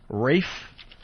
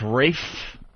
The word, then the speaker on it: Ralph: I think uh Rafe even though his name is spelled Ralph. Yeah, Ralph Fiennes. It's Rafe.